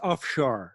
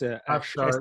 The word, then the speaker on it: Afshar: But is it Afsar? How do you say your name? Yeah, it's offshore. It's Afshar.